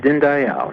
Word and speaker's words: Dinndayal: greetings yes thank you I pronounced your name right is at din Dayal yes din Dayal and il okay you